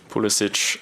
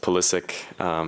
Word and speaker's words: Pulisic: um obviously you know being of you know Croatian Heritage I think pulisic is always um correct um from from that point of view but obviously growing up in America it was always pronounced pulisic so that's just what I'm used to but both I'm very much okay with pulisic you know they said